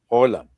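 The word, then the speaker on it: Haaland: There's a couple of say Holland, but that's because it's double A and double A in Norwegian is pronounced O.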